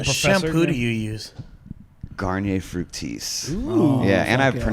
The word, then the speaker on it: Garnier: Garnier Fructis. Ooh, Yeah, and I fuck yeah.